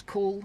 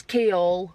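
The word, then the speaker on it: Chaol: I was convinced it was Cole, don't know why. It's not. It's Kaol. Kaol.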